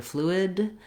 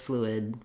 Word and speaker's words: fluid: Then when we move to fluid, we have the same flu for the first syllable. Letter I says the I sound, and we also use somewhat of stopped D here. So you may hear fluid with a strong D or just fluid, fluid. I close my tongue for the D, but I don't necessarily release it.